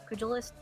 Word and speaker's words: pugilist: Um, Pugilist? I don't know how you pronounce it. It's Pugilist.